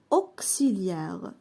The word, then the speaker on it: auxiliaire: La lettre X se prononce كس si. Lorsqu'elle est à l'intérieur d'un mot يعني أنه يكون في وسط الكلمة. Exemple auxiliaire. هنا نطقنا X كس auxiliaire.